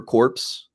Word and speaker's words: corps: this guy did, is I used to say receiver, like a strong receiver corpse, because that's how it's spelled, like CORPS, and it's just corp.